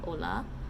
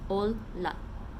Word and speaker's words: olla: So notice that in Finnish, the double L's, you have to pronounce both L's like in Italian and like in Japanese.